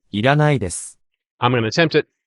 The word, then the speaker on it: いらないです: Didn't you hear me say iranai desu? No, he heard my pitch accent. But this is the correct way to say it. いらないです。